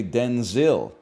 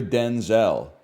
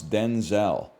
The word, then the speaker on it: Denzel: So she said from now on you're Denzel. That's how we got to pronounce Denzel. Washington clarified that his first name was originally pronounced Denzil as opposed to the Denzel he uses now.